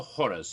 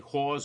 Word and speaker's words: horrors: Cocktail for the horrors of Blumhouse. Make sure you pronounce that correctly. Horrors. That's 2 syllables. Don't say whores of Blumhouse, because that sounds like something else altogether.